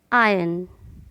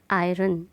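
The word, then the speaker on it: iron: तो इसका सही प्रोनाउंसिएशन है आयरन, नॉट आयरन।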